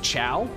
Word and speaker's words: Chao: Why is it pronounced chow? It's kind of, because like, the chow are, the chow are silly little dudes. They're little guys, and I love them to death. Because it's spelled C-H-A-O. And the plural for them is also chow.